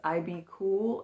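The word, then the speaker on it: IBKUL: Next, I sold this IB cool and it's spelled I B K U L.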